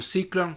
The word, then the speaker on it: Cyclon: por otro lado está la cyclon 150 o ciclón como se pronuncia con 5 velocidades y